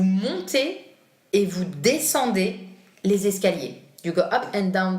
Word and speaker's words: escaliers: Les escaliers, with S and C, that you hear in the pronunciation. Les escaliers.